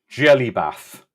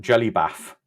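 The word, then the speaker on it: Gellibaff: though when I when my niece was younger jelly bath a jelly bath basically it's you add it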